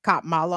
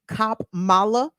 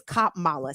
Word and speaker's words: Kamala: Trump or Kamala Harris K Mala I'm sorry for the mispronunciation cop Mala the only pronunciation is that's acceptable around here I mean I know I mean people have different accents and Regional dialects over here on in BW KB land it's cop Mala say it together everybody